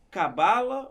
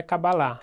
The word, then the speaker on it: Cabalá: Então, primeiro, Cabala ou Cabalá? Que muita gente fala Cabala. Cabala disso, Cabala daquilo, que a Madonna estuda Cabala. Mas como é que se fala? Como é que se pronuncia no judaísmo? Então, o nome real é Kabbalah. O nome de marketing é Kabbalah. Tá bom, então, ó, Kabbalah, pessoal. Tem que você fala, ó, é Kabbalah.